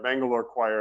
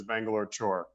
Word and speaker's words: Mangalore Choir: that people can't pronounce like Mangalore choir everybody says Bangalore chore and then the Asian